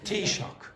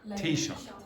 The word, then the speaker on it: Taoiseach: If the US pushes ahead with the levies, the Taoiseach has warned. So think of it like cup of tea and shock. Okay? Tea shock. Tea shock.